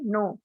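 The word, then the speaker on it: knee: Silent है, इसको पढ़ेंगे नो। नेक्स्ट है नी, इसमें की, इसमें इस लेटर में, इस जो वर्ड है, इस वर्ड में भी के जो लेटर है ये क्या है, साइलेंट है।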